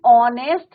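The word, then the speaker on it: honest: प्रेसीडेड बाय the determiner N एन ऑनेस्ट मैन an honour N आ राट तो यहां पर क्या है आपका ए र साइलेंट एच क्या है आपका साइलेंट यहां क्या लिखेंगे हम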